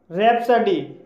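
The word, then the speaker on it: rhapsody: रैप्सडी, रैप्सडी भी आर एच से शुरू हुआ है इसलिए यहाँ पर साइलेंट है, इसलिए इसे रैप्सडी बोला जाएगा और रैप्सडी मीन्स होता है असंगवद काव्य।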